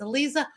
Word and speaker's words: Aliza: go to Clubhouse with it's spelled differently than it sounds. It's Eliza, but it's spelled for those listening, Eliza, Aliza.